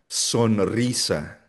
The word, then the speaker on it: sonrisa: At ginagamit ginagamit rin itong strong or rolled R kapag ang R sinus ay ah pagkatapos ng letters L, N or S. For example, alrededor alrededor. Enredo, enredo. Sonrisa sonrisa Israel Israel.